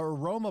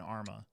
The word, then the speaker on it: Arma: And the aroma part cracks me up because there's no O in Arma.